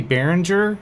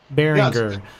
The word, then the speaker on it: Behringer: I think that the G in like that part of the world is pronounced G. So like if you say Behringer, like we say the G with the J, they say it with a G.